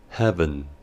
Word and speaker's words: Heaven: inglés Haven Haven que en su pronunciación debe tenerse en cuenta que la letra e del final es muda Heaven Heaven palabra que oímos